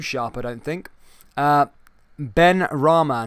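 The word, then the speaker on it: Benrahma: i don't think uh ben rama not ben arama sorry ben rama sorry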